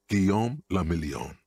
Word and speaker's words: Guillaume le Million: Guillaume le Million. Guillaume. If it doesn't rhyme, you're not pronouncing it right.